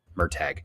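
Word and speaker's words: Murtagh: it's the second one it's merag merag it's a hard G so uh I didn't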